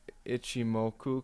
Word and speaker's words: ichimoku: the ichimoku i think is it g moku is how it's pronounced let me go ahead and see if that's right yeah ichimoku cloud this is an